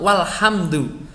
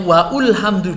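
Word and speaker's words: وَالْحَمْدُ: Ini tidak dibaca, ini kepala shad yang ada di atasnya alif ini. Jadi bacanya ya tetap walhamdu. Saya banyak menemukan anak-anak saya, murid-murid saya itu membacanya waulhamdu, dikiranya ini adalah harokat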